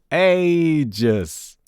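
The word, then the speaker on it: Aegis: apparently is like this a just so yay ages that's exactly what I follow you pronounce it but now we have official confirmation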